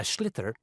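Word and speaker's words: sliotar: this ball called a schlitter that's a s-l-i-o-t-a-r so it's not spelled the way it's pronounced you hit it into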